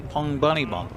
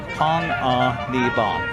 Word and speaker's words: Panganiban: Kyle told me there's no hard G. Oh, okay. So it's Panganiban. Pitch swung on and fouled back, and the count 0-2 here. Panganiban.